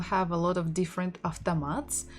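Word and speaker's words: автомат: word ah the mat after mat stressing the final syllable of tamat after mat so can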